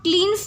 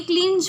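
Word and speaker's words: cleans: एस लगा हुआ है, इसे हम क्लीन्स नहीं पढ़ेंगे। ठीक है, क्लीन्स नहीं पढ़ेंगे, क्लींज पढ़ेंगे, क्लींज नहीं पढ़ेंगे, क्योंकि मैंने अभी प्रोनाउंसिएशन की जो थोड़ी डिक्शनरी वगैरह चाटी थी तो उसमें मैंने देखा था इसको जा की साउंड देते हैं।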